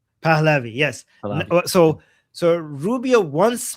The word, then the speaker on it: Pahlavi: Palavi. Palavi.